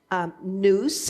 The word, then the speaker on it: nous: Greek ideas of the power of the masculine, nous, I think that's how you pronounce it, N-O-U-S, which is the mind, over the feminine, which is the atheists, A-E-S, thesis, which is sense.